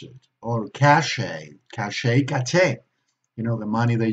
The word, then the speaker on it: cachet: We see a T, but we don't pronounce it. Or cachet, you know, the money that you get paid